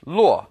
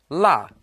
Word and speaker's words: 落: Now this character can also be pronounced luo, but here it's pronounced la, to lose or misplace something.